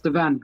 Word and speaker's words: Devan: Is Devan or Devon? Yeah, it's the van.